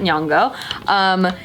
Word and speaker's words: Nyong'o: I didn't know how to pronounce that. Nyong'o.